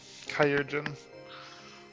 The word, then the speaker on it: chirurgeon: We need to see you back to Tuliyorol and into the care of a chirurgeon. That's how you pronounce it. What? Kyurjin.